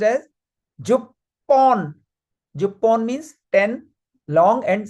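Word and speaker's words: 十本: So but it is going to be pronounced as jupon.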